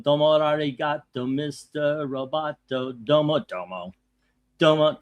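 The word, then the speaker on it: domo arigato: It's pronounced Domo Arato. Domo Ariato, Mr.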